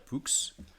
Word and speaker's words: Poux: Alors du coup, je m'appelle Pierre Poux. Le X se prononce.